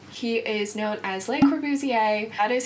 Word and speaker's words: Le Corbusier: to introduce you today to someone known as Le corbuzier he is known as Le corbuzier that is how you pronounce his name not corer trust me I